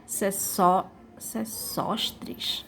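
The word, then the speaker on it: Sesóstris: mil antes de cristo para o egípcio chamado só sostres do pt teve essa é a pronúncia e repartiu as terras das margens do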